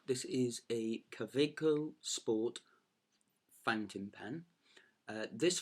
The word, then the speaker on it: Kaweco: good things about it this pen is a cabaco which is the proper way to say it